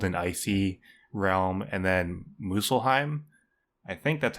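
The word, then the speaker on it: Muspelheim: icy realm and then muselheim I think that's how you pronounce it there's a p in there that I'm not pronouncing but I think it's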